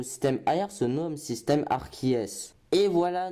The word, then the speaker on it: Arceus: AR se nomme système Arceus. Et voilà, nous savons enfin comment se prononce Arceus. Et bah oui, car Arceus sont les diminutifs d'Arceus. Allez, à tous ceux qui disent Arceus, bah allez, au revoir.